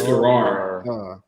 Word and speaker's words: Garrard: It's Garrard. It's spelled funny, but it's Garrard.